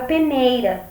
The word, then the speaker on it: peneira: fraca aqui nesse exame a gente tá usando a palavra peneira então o ney é a sílaba tônica que a sílaba mais